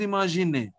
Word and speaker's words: imaginez: Final Z is not pronounced. Vous imaginez only.